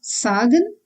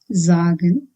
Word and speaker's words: sagen: means to be called if S is at the beginning of any word it needs to be pronounced as Z like in busy again for example zagen it's not sagen but zagen And zag means to say.